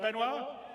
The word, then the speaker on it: Benoit: Did I say it right, Benoit?